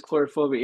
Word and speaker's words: Coulrophobia: fear of clowns right is that how you pronounce chorophobia that that is correct it is chorophobia it is about the fear of clowns yes